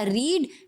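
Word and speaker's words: read: Verb 3, verb 1 था रीड। रीड को जब हम V3 में कन्वर्ट करेंगे तो हो जाएगा रेड। स्पेलिंग सेम ही रहती है।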